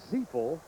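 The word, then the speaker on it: Zifle: Mike Zeil. It's spelled Z I F L E pronounced Zel.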